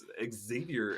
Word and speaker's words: Xavier: And I'm like, Xavier.